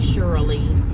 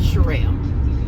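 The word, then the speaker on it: Cheral: calls me shirelle because nobody can pronounce my real name everybody call me Shirley Cheryl Cheryl uh I ain't heard it all everything but shirelle and my name is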